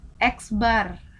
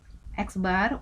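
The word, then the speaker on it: x̄: data seperti itu ya Nah ini lambangnya ada eksbar rata-rata itu eksbar ada garis di atas exnaid membacanya eksbar untuk rataan hitung rumus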